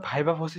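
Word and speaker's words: viva voce: এরপর ৩ number ভাইবা ভসি সম্পর্কে জিজ্ঞেস করতে পারে।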